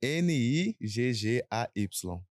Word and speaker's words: Nigay: Nigay é Niggay. Se escreve Nigay, mas fala Nigay, _UFC.